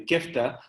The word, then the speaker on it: kifta: I know in Egypt, for example, we used to have the Mac kofta because we like kifta or kifta, I should say it properly in Lebanese, the kifta.